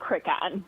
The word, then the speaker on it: Crican: It is Crican. Okay, Crican. Okay.